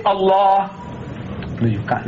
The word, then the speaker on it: Allah: as you like, but pronounce my language the way I want you to. Say Allah. No, you can't. It's difficult. Your tongue is not easy. You say Allah.